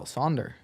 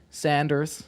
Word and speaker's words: Sander: You pronounce my name really well, Sonder. Sonder? That's we've really been good. we've been saying it a lot actually. Yeah, saying it a Well, lot. people call me Sanders or like Saunders, but you're pretty But good.